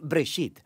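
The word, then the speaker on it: בראשית: Génesis viene de una palabra hebrea. Se pronuncia Breshit.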